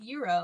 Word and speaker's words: gyro: Why would you say gyro knowing that it's pronounced euro?